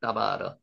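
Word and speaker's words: דבר: 따바르, 다바르라고 읽는데 따바르, 따바르라는 발음이 더 정확한 따바르, 발음입니다.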